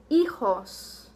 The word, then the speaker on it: hijos: Our first word is, and our H is silent, higos. Higos. And then down here we have hijos.